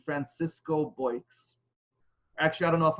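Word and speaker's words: Boix: with the name francisco bikes actually i don't know if i'm pronouncing his last name correctly it's spelled to be all IX it's pronounced either boy or boys but francisco bikes so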